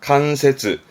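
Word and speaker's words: 関節: 발음은 난간. 그런 난관이 되겠습니다. 관절자입니다. 뼈 마디마디에 있는 관절을 말합니다. 칸세즈.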